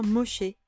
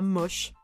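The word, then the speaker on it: Moshe: était borgne du coup ça se prononce bien Moché c'est Moïse en hébreu et pas moche j'y tiens mis à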